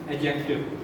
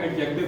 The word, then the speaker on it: adjective: that is included in adjective. The word is adjective. 99% लोग इसको adjective पढ़ते हैं, that is wrong. D is silent. There is no sound of D in that word.